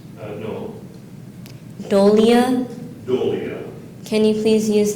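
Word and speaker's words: dolia: it's a plural noun are there any alternate pronunciations uh no doia doia can you please use this word in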